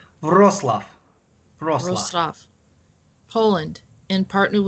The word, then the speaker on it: Wrocław: Wrocław.